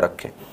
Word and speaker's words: rho: इसको रो से निरूपित करते हैं। इसको पढ़ा जाता है रो, इसको पढ़ा जाता है बेटा RHO, इसको पढ़ा जाता है रो। H जो होता है वो साइलेंट होता है, ठीक है।